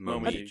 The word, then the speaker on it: Momiji: this or saw this was with the rabbit, Momiji. Did I say it right? Momiji, yeah.